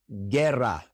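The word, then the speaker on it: guerra: U I as in gerra. Ger or guitar. When we see the combination gu or gui, the u is silent and we pronounce a hard g before an e or an i.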